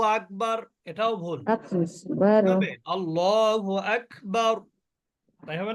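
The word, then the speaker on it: أكبر: cafe মনে হয় সম্ভবত আকবারু আকবার আকবারু আকবার প্রথমে কিন্তু আবার খ প্রথমে কিন্তু খ এর উচ্চারণ করবেন না প্রথমে কাফেরই উচ্চারণ করবেন কিন্তু বাতাস বের করে এর সময় অটোমেটিক আপনার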